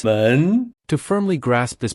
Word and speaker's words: 门: When pronounced, it's 门 To firmly grasp this pronunciation, we've crafted a clever visual aid.